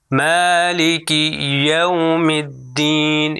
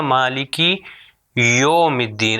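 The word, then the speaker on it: مالك يوم الدين: تو میں پھر سے صحیح تلفظ کرتا ہوں, آپ سنیے. مالک یوم الدین یوم یوم مالک یوم الدین. اب اگر غلط پڑھوں تو وہ ہوگا مالکی یوم الدین.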